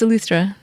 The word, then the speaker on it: Eleuthera: No, it's Eleuthera. Okay. Yeah, it's like the English equivalent.